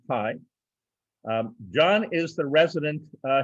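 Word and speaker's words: HAI: artificial intelligence of condensed h a i pronounced pie john is the resident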